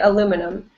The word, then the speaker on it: aluminum: and american english so this is american english aluminum right aluminum in british english they add an i and say aluminium aluminium but in american english it's